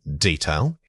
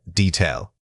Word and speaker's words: detail: Wrong, detail. Right, detail. Many speakers incorrectly substitute a long vowel sound here. Remember that the correct pronunciation requires keeping that first syllable quick and unextended.